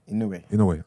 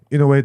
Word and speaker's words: Inoue: All right, again, how do you pronounce his name, please? The boxer, Inoue. Inoue. All right. Yeah. Inoue delivered us.